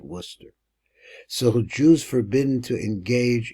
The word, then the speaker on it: Worcester: here so pointing at this place called Worchester or warer Worcester here we pronounce it Worcester so Jews forbidden to